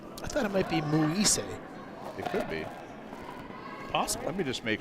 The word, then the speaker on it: Muise: Thank And do we know the pronunciation of the last name? Muise. Yeah. Okay. I thought it might be Muise.